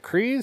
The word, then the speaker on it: Kryze: Is it Kryze?